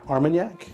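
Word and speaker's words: Armagnac: French word you said the armanac yeah that one that rhymes with I guess conak well it was also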